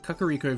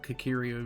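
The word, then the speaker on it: Kakariko: was a kid um kakaro village I used to just called kirio Village I don't know it just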